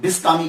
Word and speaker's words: بسطامی: Change ہو جاتے ہیں۔ تو یہ جو بسطام ہے، اصل لفظ جو ہے یہ بسطام ہے، تو کچھ لوگوں نے بستامی کہا، کچھ نے بسطامی کہا، اور کچھ نے شہر کی